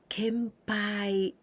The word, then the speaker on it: 献杯: to make a toast kempai also n Sound Ken Ken n and Pie can pie Kampai kempai this pie